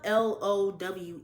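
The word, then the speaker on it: Lowe: It's spelled L O W E, so I'm pretty sure it's Low.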